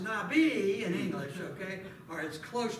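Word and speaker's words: נביא: at that okay all right I know it's pronounced Nabi in English or as close to how it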